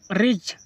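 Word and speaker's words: ridge: से पहले डी है इसलिए यहां पर डी साइलेंट हुआ budget budget means budget रिज रिज देखो जी से पहले डी है इसलिए यहां पर डी को साइलेंट कर दिया गया है।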